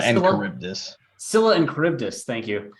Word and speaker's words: Charybdis: including Charon and the sea monsters Scylla and Charybdis. Pronunciation Scylla and Charybdis.